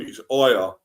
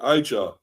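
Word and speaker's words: Ouattara: By the way, that is how you pronounce his name. It's Outtara. The J is silent. It is silent. It is Outtara. And as I've heard commentators say on the game, they've been calling him Aja or Aja, whatever, I think.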